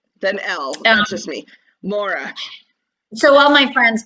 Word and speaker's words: Maura: name i call myself maura and that's actually not my name but that's how i say it because the proper pronunciation of my name is mara just like it's spelled ma ra that's right um i